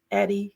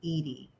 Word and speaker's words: Eddie: I'm just delighted welcome Eddie hi nice to meet you hi Andrea so nice to meet you um just for clarification it's pronounced Edy Edy thank you so much